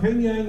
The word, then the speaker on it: Pyongyang: Now, Pingyang was how we Americans pronounce Pyongyang today. That's the capital of North Korea today.